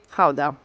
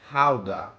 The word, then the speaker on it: Gouda: this one behind me depending of whether you're native you will pronounce it either GAA or k so since we're talking about authentic dut cheese we're going to call it Howa Howa the cheese takes its